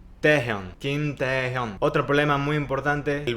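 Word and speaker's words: 김태형: lo traducimos y romanizamos, hay personas que le dicen Kim Tae-jun porque es la forma que nosotros como hispanohablantes intentamos romanizar esa palabra. Kim Tae-jun, ese nombre. Pero déjenme decirle que está mal pronunciado y este es un ejemplo muy claro de romanización. En realidad no es Tae-jun, es Kim Taehyung.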